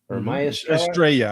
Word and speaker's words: Estrella: the seven me Estrella Estrella I think when they put the two y's together in Spanish it's a y sound yeah okay uh she